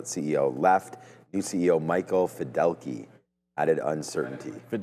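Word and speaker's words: Fiddelke: New CEO Michael Fidelki added uncertainty. Fideli. So not Fidelity, you know, Michael Fideli, I believe, is how you pronounce it.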